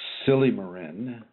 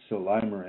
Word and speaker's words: silymarin: And I always pronounce it silymarin, and it just seems to make so much more sense to me that way. But it's spelled S-I-L-Y-M, as in Mary, A-R-I-N, as in Nancy, silymarin.